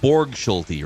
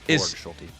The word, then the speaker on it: Borgschulte: least so is he is uh it's Matt Borg schy right correct that's how I pronounce it correct Bor schy are they hiring I'm assuming some other hitting